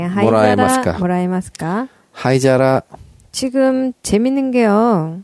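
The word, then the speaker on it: 灰皿: 하이자라. 지금 재밌는 게요. 하이자라의 그 뒤쪽 한자 보시면 오사라의 한자랑 똑같아요. 아하. 네, 그 사라. 네, 이제 앞에 하이가 오면서 발음이 자라로 바뀐 거죠.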